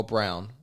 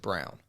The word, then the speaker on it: Braun: Yeah, but they've moved Braun into the... Oh, Brown. It's weird. It's spelled It's Braun, isn't it? No, but they pronounce it Brown.